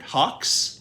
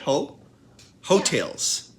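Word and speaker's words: Heaux Tales: 29 Jasmine Sullivan um how do you say this word Hawks ho ho really you say it that way that's how you say it ho hotels yeah okay hotels from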